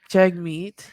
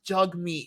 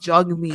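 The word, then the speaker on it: Jagmeet: don't know what anyway jeg meat oh J no it's not it's it's jug meat he remember I remember he did a video on his pronunciation of his name it's jug meat we just say juge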